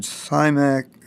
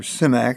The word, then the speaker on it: Simak: Clifford Simak, or Simak is how I hear it's pronounced now.